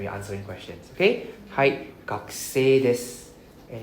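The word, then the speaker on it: 学生: Hai, gakusei desu. And it's pronounced as gakusei, not gaksen.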